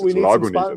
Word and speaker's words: Lagunitas: did from Jordan Rodriguez, how to pronounce Lagunitas. Not Lagunitas, it's Lagunitas. We need to get a sponsorship deal going with them because we've mentioned him so much now.